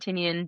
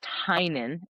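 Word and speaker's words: Tynion: I met him and I felt so bad that I've been saying I was like saying Tiny. Tinen. And it's Tyen.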